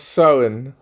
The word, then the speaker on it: Samhain: Oui, oui, on prononce Samhain.